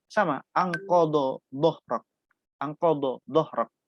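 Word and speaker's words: ظهرك: sebagainya, membacanya sama anqadha dhahrak. Anqadha dhahrak. Ada yang bacanya anqadha zahrak. Sama. Do sama zat sama. Padahal itu beda.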